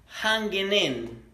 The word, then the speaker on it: hanging: Comúnmente, la letra G no se pronuncia a la hora de hablar, ¿verdad? Entonces, como no la pronuncias a la hora de hablar, vas a unir la N con la N. Entonces se diría hanging in.